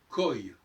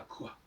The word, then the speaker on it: quoi: Il faut dire koi, mais pas quoi.